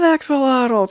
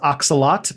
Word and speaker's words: axolotl: axolotl um i love axolotls who doesn't yeah i mean technically the pronunciation is oxalot but uh but but when it gets moved to english we kind of just pronounce the l so that's how axolotl